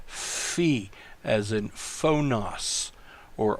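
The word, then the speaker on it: phi: can pronounce it Upsilon the next letter is the fee notice the Greek doesn't have an F but it does have a pH this is a fee as a faux NOS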